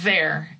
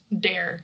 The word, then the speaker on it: there: There is with voice there. There. And I think a lot of people try to say it like with the D sound dare. But in English your tongue is part of it there. There.